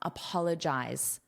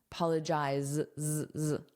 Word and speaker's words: apologize: The British spelling is with an S, but the pronunciation is exactly the same.